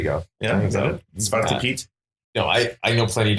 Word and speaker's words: Zwarte Piet: So how do you pronounce it? Zwarte Piet? There you go. Yeah, is that it? Zwarte Piet?